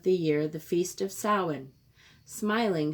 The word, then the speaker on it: Samhain: year the feast of soin smiling she said the strange word so it seemed to rhyme with plowing while it's true that